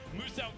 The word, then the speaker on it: Muso: Now, Muso wants you to know his name is pronounced as Muso, the Australian-based content creator down there.